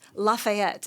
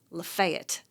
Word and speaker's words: Lafayette: It's not Lafayette, it's Lefayet down in Georgia where where we are.